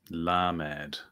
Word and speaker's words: lamed: yeah thanks sorry so this one is called lamed this one la mad okay yes bit like lamech yes exactly but with